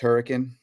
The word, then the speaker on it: Hurricane: like it looks like hurricane but it's it's pronounced hurricane um and is it is it a CrossFit